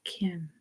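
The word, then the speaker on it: 김: It is Kim, or if I break out my Korean pronunciation, Kim, Kim, Kim, Kim, Kim, Kim. Not Kim with the hard K, it's Kim.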